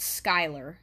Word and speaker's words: Schuyler: But yeah, it's pronounced Schuyler.